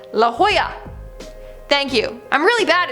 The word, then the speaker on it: La Jolla: flash one 22 commented la jolla sie is pronounced la jolla thank you i'm really